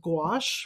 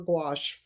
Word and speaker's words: gouache: easiest for me is I'm a great proponent of gouache, which um, artists will recognize the word. It's a French word spelled Gouache, Gouache, and it's pronounced like a G apostrophe WASH, gouache.